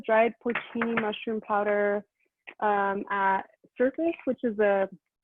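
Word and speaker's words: Surfas: of ingredients it's called it's spelled s-u-r-f-a-s like surf like you're smoking um but it's pronounced surface and it's kind of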